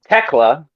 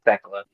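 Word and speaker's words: Thekla: Chris Statlander, Megan Bane, Lillian Nightingale, Ty Melo, Teela. Apparently, that's how you pronounce her name. It's not Techla.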